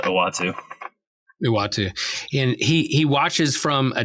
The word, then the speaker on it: Uatu: I say Utua. I never could pronounce the big cosmology. I think that's correct, but I don't. Yeah. Watches the universe from what's that, Josh? I think you were right in the first shot, Uatu.